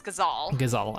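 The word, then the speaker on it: Gysahl: said out loud before according to lightning returns it's gazal okay not gizzle as i have been saying so i've i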